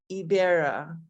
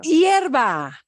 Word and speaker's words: hierba: fertilizer mi hibera. Otra vez. There's different words for grass. Hibera. Oh, hierba.